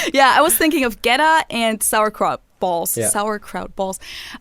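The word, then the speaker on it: goetta: what i'm talking about so getta is spelled g-o-e-t-t-a and is basically some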